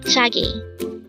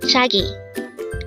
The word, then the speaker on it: 갑자기: here at day hangle word number 329 kagi this pronounced as three syllable word first syllable is Cap second is CH and third is G pronounce it with me kagi kagi the word cup chagy is used to express